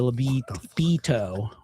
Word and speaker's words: libido: E, it's an I. It's a libido, like a veto, but veto has a fucking E. So libido. Oh, no.